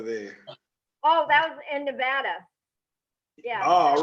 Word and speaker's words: Nevada: The rest of the country says Nevada. The locals say Nevada. Reno, Nevada.